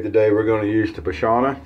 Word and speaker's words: Pashana: we're gonna use the bashana did i say that right p-a-s-h-a-n-a pashana is how i would pronounce it the essence of barbering